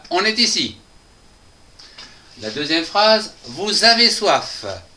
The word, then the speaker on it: vous avez: La deuxième phrase, vous avez soif avec la liaison SA qui va donc donner Z. Le son za. Vous avez vous avez soif.